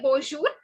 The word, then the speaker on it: bonjour: Second thing, it is not the j sound, but it is the j sound. Okay, j sound. Like for example, say the word measure in English. Okay, that j sound is there. No, make that sound.